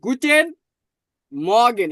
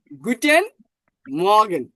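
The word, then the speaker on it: Guten Morgen: এই জন্য এখানে একটা রুলস আছে, জার্মান শব্দের ভিতর যদি অ্যাড থাকে, কি? জার্মান শব্দের ভিতর যদি অ্যাড থাকে, তাহলে এটি উচ্চারণ হবে 30%। কয় পার্সেন্ট? 30%। তাহলে দেখুন, আমি যদি এটা 30% উচ্চারণ করি তাহলে গুটেন মর্গেন, আমি কিন্তু আর এর 100% উচ্চারণ করতেছি না, জাস্ট অনলি 30%। গুটেন মর্গেন, ঠিক আছে?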